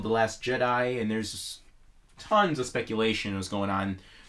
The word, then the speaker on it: Jedi: You don't say Jedis, so you say Jedi anyway.